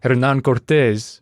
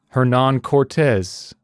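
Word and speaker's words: Hernán Cortés: work on pronouncing them I feel like an ass saying Hernan Cortes when the rest sounds like a Canadian schmuck but I also feel like an ass when I say hernan-cortez or Worse Hernan Cortes so I'm just going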